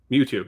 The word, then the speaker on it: Mewtwo: Do I Do I pronounce it mu Me M Mewtwo? Mewtwo.